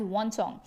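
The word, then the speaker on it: Xuanzang: i do have it huin sang and huin sang is written in this manner but he's pronounced as one song so faheen and one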